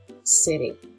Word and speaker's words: seré: Look at the accent on the E, so there's more emphasis on that last letter. So I will be seré.